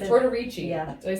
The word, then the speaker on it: Tortorici: Tortorici. Yeah. Did I say it right? Yes. Okay, Tortorici.